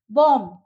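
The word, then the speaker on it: bomb: तो उन बी को हम लोग साइलेंट वर्ड्स में साइलेंट बोलेंगे, उसको हम प्रोनाउंस नहीं करेंगे। बॉम्ब, com, that, doubt.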